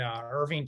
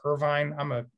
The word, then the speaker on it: Irving: So they have a very large server farm in Irving, Texas. Irvine, I say it wrong every time.